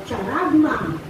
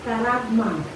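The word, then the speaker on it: χάραγμα: So sabi dyan, the word mark, sinabing tatak o mark, it is translated by the Greek word karagma o charagma. No? Sa akin, parang maganda siyang bigkasin as karagma.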